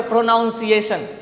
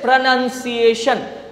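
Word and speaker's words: pronunciation: साथ ही डेवलप करेगा कैसे आप पहले बोलते होंगे इस वर्ड को प्रोनाउंस एशन या प्रोनंसिएशन आपने मुझसे सुना कि the correct प्रोनंसिएशन इज प्रोनंसिएशन अब आगे से जब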